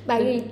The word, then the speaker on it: Paris: Chứ bên Pháp đọc đúng là ba ghi. Ba ghi hả? Ôi chị giờ chị mới biết rồi, chị tưởng không đọc sai không á. Không, đọc đúng là Paris.